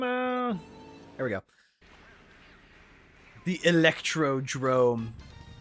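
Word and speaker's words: Electrodrome: The electro drrome. Probably the most commonly mispronounced Mario Kart track in history because it is not Electrod dome. It is Electro Drrome.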